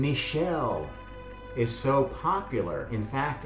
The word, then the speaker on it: Michel: This is why the name Michel is so popular. In fact, in French, you can't tell the difference between the male and female versions of the name. Michel, Michel, exactly pronounced the same.